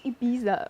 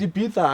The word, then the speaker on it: Ibiza: went to Ibiza. It's Ibiza actually.